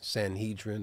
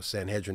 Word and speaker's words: Sanhedrin: were Sadducees Pharisees and Sanhedrin or Sanhedrin depending on how you say it uh but one of